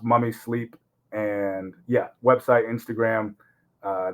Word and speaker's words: MVMI Sleep: Instagram uh mommy sleep it's spelled mvmi but pronounced mummy sleep and yeah website Instagram